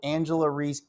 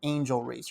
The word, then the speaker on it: Angel Reese: podcast with that said you're mad because I called Angela ree instead of Angel Reese her real name first of all she doesn't even deserve for me to cover to say her name the right way because she's not a